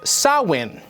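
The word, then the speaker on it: Samhain: Celtic Festival of Sam Hayne a gelic word pronounced sawin oh a pagan religious celebration to welcome the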